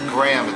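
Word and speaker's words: Graeme: It's Graham. It's not spelled a normal way.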